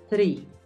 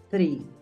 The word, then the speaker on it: three: Tú tienes que pronunciarlo distinto, porque no es una T, es una TH.